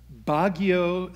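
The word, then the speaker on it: Baguio: served and you're gonna have to help me pronounce this yeah bagio yes bagio City First United Methodist Church which was not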